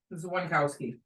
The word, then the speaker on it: Dzwonkowski: Zwankowski, common spelling? Hard to spell. Hard to say. DZWONKOWSKI. Oh, wow, you're a whole lot. So the D is silent. The SKI helps.